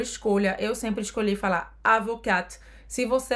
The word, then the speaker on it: avocat: E eu dizia, je suis avocate. Je suis avocate. Je suis avocate, mas muitas das minhas colegas não falavam assim. Falavam, je suis avocat. Sem pronunciar o T no final, no masculino.